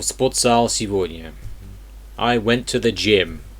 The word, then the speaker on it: сегодня: So today would be сегодня. Сегодня. For some reason, the G is pronounced as a V.